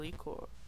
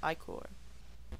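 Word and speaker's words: ichor: fill it with magical ecore that's pronounced i-core oh choose your eye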